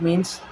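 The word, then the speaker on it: mesne: उसके बाद मीन्स profit, इसको अक्सर लोग मेसनी प्रॉफिट पढ़ते हैं लेकिन इसका एक्चुअल प्रोनाउंसिएशन क्या है, मीन्स प्रॉफिट।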